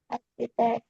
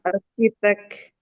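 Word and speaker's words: architect: Arsitek. Arsitek. Oke. Alright. Dibacanya Inggrisnya bukan arsitek ya, Teman-teman. Apa? Pakai K. K arsitek. Pakai K. Pakai K. Arsitek. Arkitek pakai K. Arkitek. Arkitek. Ark. Arkitek. Heeh. Ark dibacanya.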